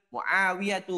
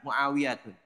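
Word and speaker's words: معاوية: hilang menjadi domah saja hamzatu bukan hamzatun Namun hamzatu thhatu bukan thhatun usamatu bukan usamatun muawiyatu bukan muawiyatun dan iqrimatu bukan ikrimatun semuanya yang berakhiran tak marbutah nama laki-laki yang berakhiran tak marbutah maka dia dibaca dengan dah saja tidak ada tanwinnya sebagaimana di sini setelahnya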